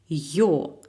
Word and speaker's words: ё: Voyelle yo, yo. Il est orthographié comme E plus tréma, prononcé comme yo en yo-yo.